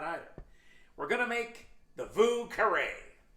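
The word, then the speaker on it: Vieux Carré: we're gonna make the vu carray get out your creole pronunciation of your french it means old square vu caray that's how they say it down in new orleans the drink was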